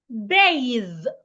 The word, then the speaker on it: bathe: The next one, bathe. Bathe. Now pay attention to the difference in B-A-T-H and B-A-T-H-E. B-A-T-H, bath. B-A-T-H-E, bathe. The spellings are different. The pronunciations aren't the same as well. Bath, a noun.